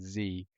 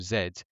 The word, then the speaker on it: Z: the Americans was that they said Z instead of zed when clearly there is no reason to say zed. So, I I've got to just concede it. There's there is no defense for that, honestly.